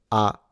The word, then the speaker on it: arigato: what pitch is, but Japanese is a pitch-based language. So the way you go up and down, imagine it as notes on a keyboard. For this one is arigato. Arigato is the pitch. If you really want to say it like the Japanese say it, and then you elongate the O.